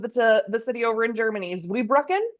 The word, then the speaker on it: Zweibrücken: Iowa, and I should have asked how to pronounce the name of the city over in Germany. Zweibrücken? Zweibrücken.